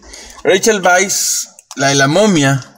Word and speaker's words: Weisz: la actriz es está rachel vice creo que así se pronuncia rachel weisz y no que la doble o se aprecia cómo ve la casa lo que pensaba wise pero supuestamente por ese